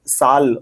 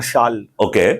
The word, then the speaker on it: sal: It either has to come from, there's a tree called sal or shal, alternatively pronounced, which grows a lot towards Chhattisgarh and those areas.